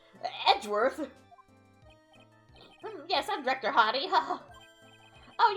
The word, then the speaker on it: Edgeworth: I don't know how you pronounce his name. Oh, Edward. Edworth. Hi, Edworth. Edgeworth.